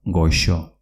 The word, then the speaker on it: goxo: Repito, goxo, con una X. Y casa se dice eche, con una TX. Vamos con la pronunciación de G y J.